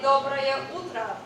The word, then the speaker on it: доброе утро: Okay, if it was morning, we would say доброе утро.